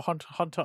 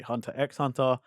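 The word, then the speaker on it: Hunter × Hunter: So it hunter ex Hunter or Hunter Hunter. I keep cuz everyone hears both because the people who don't know say hunter x hunter people who do know know that you don't pronounce the x.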